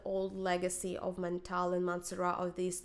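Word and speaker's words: Mancera: goal is fig ecstasy by maner or in the French pronunciation manaha I guess sister brand of mantal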